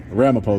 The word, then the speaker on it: Ramapo: Ramapo though is how you say it.